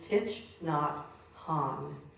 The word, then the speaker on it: Thich Nhat Hanh: his or done anything of his, but it's Thich Nhat Hanh. And that's a name that Ari had to teach me how to pronounce.